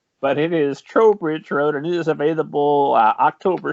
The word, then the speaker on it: Trowbridge Road: Road which we were just discussing I've been mispronouncing as trout Bridge Road but it is Trowbridge Road it is available uh October 6th right yes